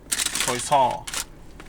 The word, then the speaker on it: croissant: A croissant, an almond croissant. Apparently that's how you're supposed to pronounce it correctly.